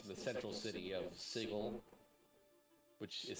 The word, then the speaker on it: Sigil: mostly takes place in the central city of sigle which is spelled sigil but pronounced sigle I think it's actually like illegal to say it pronounce it sigil bigle yeah it's a city of like where